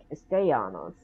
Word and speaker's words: Castellanos: Now, I was under the impression that the E is actually pronounced A, and especially with the double L's right next to it, Castellanos, but anyway.